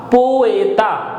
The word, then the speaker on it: poeta: So PO is po, E gives A sound, and hence it is poe, T is T, and A is A. So it is poeta, which means poet in Spanish.